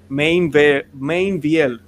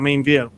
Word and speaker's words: Meinvielle: Así que tenemos triple alegría de un sacerdote que tal vez muchos de ustedes conocen, que es el padre Mainville. Así que se dice, ¿verdad? Mainville.